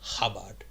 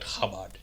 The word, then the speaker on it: Chabad: global headquarters of the so it's written Chabad but I've heard it pronounced habad okay so I don't know I'm just going to call it kabad okay the kabad luich